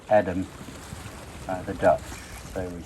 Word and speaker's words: Edam: I know we call the cheese 'Eeedam' but I'm told the town is pronounced Edam by the Dutch, so we should be calling the cheese Edam as well.